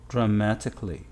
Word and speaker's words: dramatically: a l l y how to pronounce it shall we say dramatically no say dramatically dramatically simply like that the correct way is the easiest way you can compare for